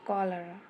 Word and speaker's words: cholera: इसे मैं लिखूँगी, इन प्रोनाउंसिएशन करूँगी कॉलरा।